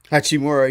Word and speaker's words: Hachimura: Hachimura.